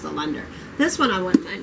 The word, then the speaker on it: Allender: I wanted to say Alexander, but I think it's pronounced Allender.